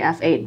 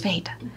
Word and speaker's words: f/8: So because it's got the slash, technically you're supposed to say F8, but it's the photography pun. Like, yeah, it was fate.